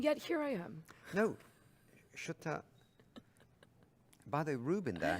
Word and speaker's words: Shweta: India, right, says that your name is pronounced Shweta. Shata. He says, no, you've got it wrong. I've got it wrong. Shutta, like shut the door. Shutta your mouth. I'm fine with any pronunciation as long as it's not shitta.